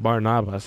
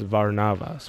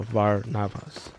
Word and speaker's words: Barnabas: So the way you say his name is not Barnabas, it's Varnavas with a V. So Varnavas.